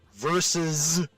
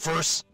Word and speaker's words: versus: Versus. It's two syllables. It's not verse.